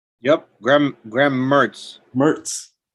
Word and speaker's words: Mertz: Uh, our buddy, how do you pronounce his name? Mentz? Yep, Graham Mertz. Mertz.